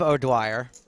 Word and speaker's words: O'Dwyer: And during the break, we got word that we've been pronouncing someone's name wrong. It turns out the name is Steve O'Dwyer.